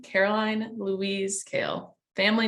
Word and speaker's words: Kahl: the and and the spelling is but pronounced kale yes it is okay it confuses me sometimes